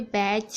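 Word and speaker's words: batch: अच्छे से समझ लीजिए बैच कैच मैच इन सभी में आप देख रहे हैं टी को कहीं भी पढ़ा नहीं जा रहा है कोई भी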